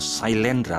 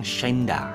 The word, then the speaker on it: Sailendra: Shine plus Dra itu kalau diucapkan mestinya Shaindra atau Sailendra, tapi karena kebanyakan orang-orang di barat itu agak sulit menyebutkan kata Dra atau konsonan yang bergabung menggunakan huruf R, maka banyak sekali mengucapkan tentang Shainda, Shainda, Shainda, maka muncullah